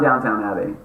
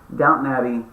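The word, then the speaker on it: Downton Abbey: everybody that's watching this it's not Downtown Abby maybe you guys knew but I did not and now I'm upset you didn't tell me uh that I've been making this mistake for years and just allowing me to do it publicly uh but it's okay I'll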